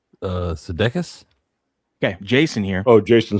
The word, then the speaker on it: Sudeikis: Sudeikis? Okay, Jason here. Oh, Jason Sudeikis. Yeah. Sudeikis.